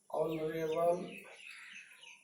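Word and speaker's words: honorable: लेकिन यहाँ लिख दें honest man, एम ए एन, यहाँ लिख दिए ऑनरेबल गर्ल, यहाँ लिख दिए एयर, यहाँ लिख दिए एयरेस। अब देखिए ये सब का उच्चारण वॉवेल साउंड के तरह है, इसलिए क्या होगा एन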